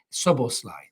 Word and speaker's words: Szoboszlai: and that is Dominic sober Sly yes I'm getting better at pronouncing the name I have checked it out sub or slide that's the name so Dominic's other Sly